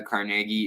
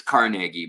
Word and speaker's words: Carnegie: by the Carnegie Institute, or it's Carnegie, but we could say Carnegie Mellon if you want to pronounce it like that. That's how everyone used to pronounce it, and then they're like, it's actually Carnegie. But we're gonna say Carnegie because I think it sounds better.